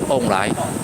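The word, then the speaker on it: 王梨: Pineapple in Taiwanese dialect is pronounced as omai.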